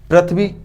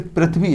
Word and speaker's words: पृथ्वी: शुद्ध उच्चारण करें तो ये पृथ्वी नहीं है, ये पृथ्वी है, ये री है।